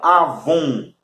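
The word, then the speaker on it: עָוֹן: Que é a palavra avon. A palavra avon, ela significa iniquidade. A pronúncia está aqui, ó, com W, tá? Avon com W, não é com V, não.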